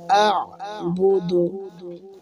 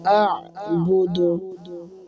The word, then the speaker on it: أعبد: লা আ'বুদু হামজা আইন জবর আ, প্রথমে হামজা উচ্চারণ হবে, আর আইন গলার ভিতর থেকে চাপ দিয়ে উচ্চারণ হবে। লা আ'বুদু মা মা এক আলিফ